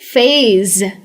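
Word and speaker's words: phase: अब आप कहेंगे यहाँ पे तो एस है, तो फेस क्यों नहीं? फेस कहोगे तो ये तो चेहरा हो जाएगा ना, इसलिए इसे कहेंगे फेज। तो ये जो एस है ना, इसको ज की तरह प्रोनाउंस किया जाता है।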